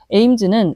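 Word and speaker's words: Ames: 에임즈는 목표를 뜻하는 영어 단어 에임과 발음이 같아요.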